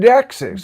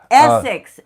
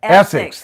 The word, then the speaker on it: Essex: That's David Xis. David uh David X. Yeah, now I've said it wrong. I won't remember. Essex. Essics.